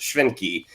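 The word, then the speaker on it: Schwentke: by robert uh it he's german so i believe it would be pronounced schwenky but this guy he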